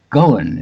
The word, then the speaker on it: Ghosn: Carlos Ghosn, it's pronounced, though there's an S in there somewhere.